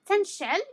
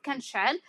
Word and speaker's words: كنشعل: Okay, what we said about the ka, some Moroccans they might pronounce it as the ta. Okay, they might say tanshal instead of kanshal, but both of them are the same and both of them are present tense.